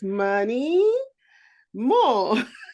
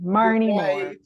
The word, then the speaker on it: Maryne Moore: Her name is Maryan Moore. I hope I pronounced your name. You did fine. Maryan Moore.